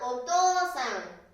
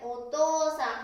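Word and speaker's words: お父さん: うさん、ね、お父さん。発音はおですけれども、書くときね、ここがおにはなりません。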